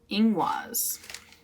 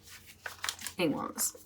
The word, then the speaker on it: Ingwaz: How do I pronounce it? It is Ingwaz. Okay. Ingwaz.